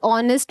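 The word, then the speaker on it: honest: अब आप बोलोगे मैम एन तो ए ई आई ओ यू के आगे आता है, लेकिन ऑनेस्ट में जो एच है ये क्या है, साइलेंट।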